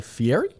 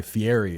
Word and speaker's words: Fieri: Guy Fieri.